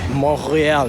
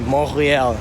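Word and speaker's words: Montréal: accent, and it's like you don't pronounce the T. So it's like Montreal. Yeah, that's how you say it, Montreal.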